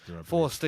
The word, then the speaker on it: Forster: Or Forster, however you pronounce his name. Forster, yeah.